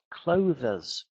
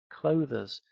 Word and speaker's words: clothes: I've heard a lot of teachers say clothers, clothes, one syllable.